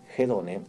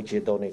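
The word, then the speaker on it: ἡδονή: los placeres esto significa hedone O jone como usted quiera pronunciarlo espatal eso es otra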